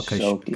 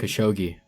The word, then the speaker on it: Khashoggi: Jamal Khashoggi. Khashoggi.